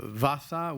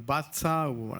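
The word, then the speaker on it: vacha: Et dans la forme nord, vasa ou batsa, mais écrit V-A-C-H-A.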